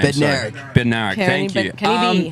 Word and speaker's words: Bednarik: Bednarik.